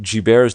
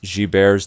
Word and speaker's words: Gilbert: most common disease is this thing called guilt G bares disease it looks like Gilbert's but it's pronounced bears disease believe it or not this condition which